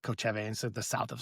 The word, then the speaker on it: Kochevar: But it's I believe it's called, it's the at least the way I have been saying is like Kochevar, and so the south of Slovenia, that region.